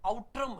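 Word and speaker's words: Outram: उस वक्त इस नाम को आप देख लें, ये आउट्रम है, आउट्रम, कुछ जगह उट्रम भी इसका उच्चारण मिलता है, उच्चारण का कोई इशू नहीं है।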